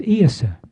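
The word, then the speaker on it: Iosa: Now, the interesting thing is that in Gaelic, it's Iasa. It's spelled I-O-S-A.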